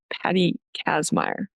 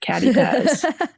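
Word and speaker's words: Patty Kazmaier: Um, so both of these players were top 10 finalists for the 2025 Patty Casmire Award this past year. Said it right. Not Catty Caz.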